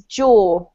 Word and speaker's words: jaw: So I would go for this in the same way I pronounce it, which is jaw. Jaw. It rhymes with door for me, okay?